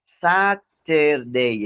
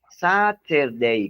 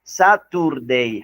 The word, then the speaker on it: Saturday: Por lo menos esta sábado se pronuncia Saturday. Escuchen. Saturday. ¿Cómo dije? Saturday. Saturday. Otra vez Saturday. O sea, que o sea que la U suena e Saturday.